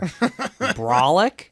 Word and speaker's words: brolic: Brolic? Yeah. Is that real? Yeah. It's slang. It means like super fucking strong. Rhymes with frolic.